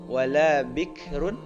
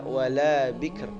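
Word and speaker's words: بِكْر: Kemudian selanjutnya yang 2 tuh wala bikrun, dibaca wala bikr, ya, bikr. Jadi jangan wala bik, tapi harus ar, wala bikr, tapi tipis. Sami'udz dzikr, jangan sami'udz dzik, enggak boleh.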